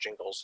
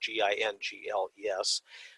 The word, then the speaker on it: Gingles: Jingles, I think it's pronounced Jingles, it's Gingles, the Supreme Court set preconditions that a minority